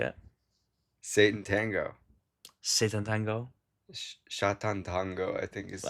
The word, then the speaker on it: Sátántangó: Sátántangó, I think is the correct Right, pronunciation.